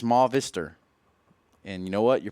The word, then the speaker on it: Movistar: F Silva has said please stop saying movie star it's ma vistor and you know what